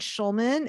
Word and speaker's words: Schulman: And Schulman is spelled like school, SCHULMANART.